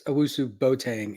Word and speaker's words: Owusu-Boateng: I'm pretty partial to Woo, and it's Owusu-Boateng, if you want to pronounce it.